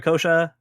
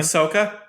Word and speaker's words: Ahsoka: much about uh was I always forget I say name aasha akosha how do you say your name Ahsoka Ahsoka I don't know much